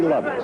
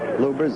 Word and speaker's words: Lubbers: I'm a Tali against Rudy lovers are lubbers it's pronounced both ways lubbers is probably more technically correct anyway it's the way Rudy wants those that